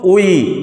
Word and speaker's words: 의: আজকে আমরা 1 মিনিটে কোরিয়ান বানানের উচ্চারণ শিখি। আজকে আমরা শিখব উই, মানে রস্যৌ হস্যই উই।